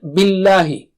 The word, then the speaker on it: بِاللهِ: Let's take the next word, billahi. Don't make the lam thick here. Don't say billahi. No, just the normal lam.